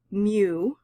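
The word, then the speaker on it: μ: u with a tail on it and we pronounce this mu for the mean of a population so this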